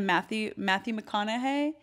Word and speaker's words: Matthew McConaughey: I started reading again, and I have never been a huge fan of Matthew McConaughey.